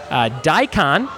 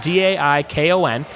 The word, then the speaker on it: daikon: to the arts Culinary Arts site number six daikon I think that's how you say it dai Kon is a large Asian vegetable with crunchy flesh